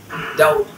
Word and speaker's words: doubt: ইউ, ডাউট, dare. এই যে after consonant হবে না, এটা হবে আফটার ভাওয়েল। মানে BT যদি থাকে ভাওয়েলের পরে তাহলে বিটা সাইলেন্ট হয়ে যাবে।